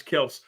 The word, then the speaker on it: Kelce: saying that um T Swift and uh Travis Kel which which they made the um the correction it's not Travis Kelce it's Travis Kel um they say that they